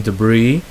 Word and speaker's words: debris: So it's not or falling debris. So it's a silent S.